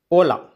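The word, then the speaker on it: hola: முதல்ல பாருங்கள், ஓலா. அது வந்து நான் சொல்லியிருக்கேன் ஹெச் அதை உச்சரிக்கக்கூடாதுன்னு சொல்லியிருக்கேன். ஓ இல் ஓல் ஆ, ஓலா. இப்போது இல்லு கூட்டல் ஆ தான் பார்க்கணும், லா. ஓ லா, ஓலா அப்படின்னா ஹாய் அப்படின்னு அர்த்தம்.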